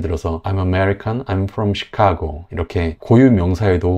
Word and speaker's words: Chicago: 걸 보실 수 있죠 그리고 시카고 이것도 두 번째 음절의 강세가 있어요 그래서 앞이랑 뒤에 약세 음절은 다이 모음이이 어 발음으로 된 걸 볼 수 있습니다 그래서 이렇게 강세 음절을